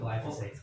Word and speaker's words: glyphosate: didn't have as much how do you say, glyphosate in it?